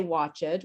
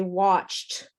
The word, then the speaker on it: watched: pronounce every letter but actually we don't say watch it we say watched and uh there's no